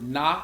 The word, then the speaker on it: Nga: Also, in Vietnamese, the word Na is pronounced Na, is spelled Nga, means shining light.